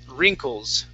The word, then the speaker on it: wrinkles: Okay, so the W is going to be silent. Let's only pronounce an R. It is wrinkles.